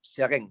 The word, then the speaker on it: Seraing: Seren.